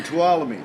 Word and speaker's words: Tuolumne: us right here from tuolumne to all of me yep and and how do we remember how to say it follow me follow me to twilight follow me to twilight